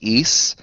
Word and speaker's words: Ys: games the spelling of it is YS it's pronounced eise oh yeah heard of that yeah rabbis i